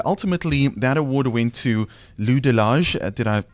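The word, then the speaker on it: Lou de Laâge: international Emmys and ultimately that award went to Lou delage did I pronounce that correctly yeah and but you know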